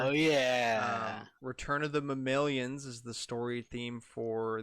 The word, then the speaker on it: mammalian: out next year oh yeah return of the mammalians is the story theme for the single player mode um isn't it mammal aliens because it's mammals it's mammalian that's how they